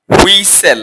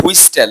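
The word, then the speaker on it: whistle: তারপরে আছে দেখো হুইসেল। আমরা বলি হুইস্টেল। হ্যাঁ, টিটা অনেকে বলে থাকে, যারা জানে তারা হয়তো বা বলে না, কিন্তু হুইস্টেল না, এটা হচ্ছে টিটা সাইলেন্ট থাকবে।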